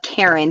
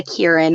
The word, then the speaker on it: Kieran: it's spells and then people think my name said uh karen but it's a kieran or kira or we should